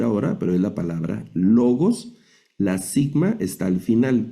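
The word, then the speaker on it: λόγος: No la vamos a traducir ahora, pero es la palabra logos.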